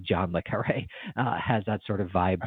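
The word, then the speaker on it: John le Carré: has a sort of Jean Le Carré feel to it. I don't know why I pronounce his name like French. It's just Jean Le Carré.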